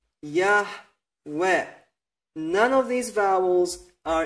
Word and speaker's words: Yahweh: So, this is the true pronunciation of the Creator's name. These are the correct vowels with which we can write down this pronunciation, Yahweh.